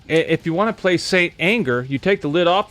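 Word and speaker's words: St. Anger: It's pronounced Saint Anger. I don't know what the fuck. I've always pronounced it Stanger.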